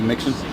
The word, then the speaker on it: Mixon: It's Mixon, M-I-X-O-N. Can you spell it last?